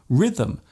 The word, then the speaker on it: rhythm: Other words containing silent letters such as campaign, silhouette, rhythm, and bureau are taken directly from other languages.